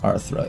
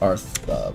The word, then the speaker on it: Artha: Not Arthra, it's Artha.